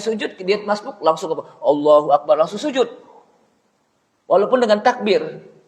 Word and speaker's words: Allahu Akbar: takbiratul ihram itu hendaknya jangan sampai orang membacanya dengan anye panjang. Allahu Akbar. Kenapa? Karena kalau Allahu Akbar bacaannya salah, takbiratul ihramnya apa? Nggak sah. Karena artinya Allah, apakah Allah Maha Besar? Dengan A yang panjang.